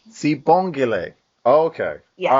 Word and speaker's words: Sibonglie: All right, and help me say it because I do not want to mispronounce this. That's Sibonglie. Sibonglie. Sibonglie.